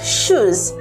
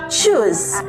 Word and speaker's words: choose: the word choose as shoes, this video is for you. This video is for you. So, this word right here is choose and not shoes.